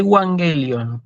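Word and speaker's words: εὐαγγέλιον: wang el lyon sí y wang el lyon así se lee en la pronunciación clásicas y wang el lyon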